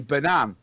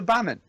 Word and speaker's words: Bannan: part of the lyrics, it's Barry Banan in the way that we have have pronounced his name correctly, I might add, all through this season. And then at the end, they change it back to Bannon.